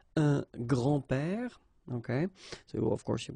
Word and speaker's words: grands-pères: you think about that, you don't pronounce this S, so actually phonetically it's the same grand-père here and grand-père here.